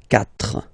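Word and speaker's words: quatre: When we get this Q letter and then a vowel after, then we will have to put this U. Okay? So you get this Q-U-A, but then the sound that you will pronounce is K.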